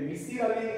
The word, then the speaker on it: মিসির আলী: হবে না আচ্ছা আচ্ছা আমাদের উচ্চারণ একটু ভালো মিছিল মিসির না তো মিসির আলী থ্যাঙ্ক ইউ তো মিসির